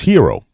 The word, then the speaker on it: gyro: Look, it's hero, right? Yeah. We all know hero. We just replaced the H with a Y, and there you go, hero.